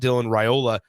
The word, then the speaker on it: Raiola: Obviously, one that's headlined by Dylan Raiola. We found out the official pronunciation.